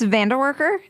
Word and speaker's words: Vandewarker: It's Vanderworker. Yes, Vanderworker. I sometimes Anyway, I won't go into the ways I pronounced it.